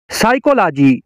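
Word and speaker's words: psychology: का जी साइलेंट है साइकोलॉजी साइकोलॉजी का मतलब है नफ्स यात साइकोलॉजी का पी साइलेंट है साइकाइट्रिक साइकाइट्रिक का मतलब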